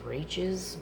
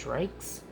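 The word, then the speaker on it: Reichs: been pronouncing her last name wrong I've been pronouncing it as raes and it's reikes I apologize for that well there's an older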